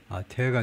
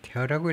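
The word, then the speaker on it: tear: 예를 들면 in the polial fa 태어가 눈물이 아니고 찍기는 걸 말하네요. 찍기는 거 아플릭 정치 패브릭에 있어서의 그런 찍김 패브릭 천이죠 in democratic norms 민주주의 그 규범에 있어서 태어라고 읽어야 되는 거네요.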